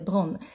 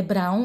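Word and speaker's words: Braun: né que era o doutor bron a gente fala é Brown mas aqui fala pronuncia assim né e ele ficou um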